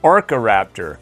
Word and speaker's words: Orkoraptor: No, it's Orkoraptor.